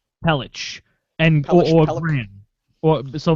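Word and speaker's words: Pelech: Pon Andre Pon no p l e c pronounce that oh oh Adam pelich pelich and or gr or so Mayfield pelich or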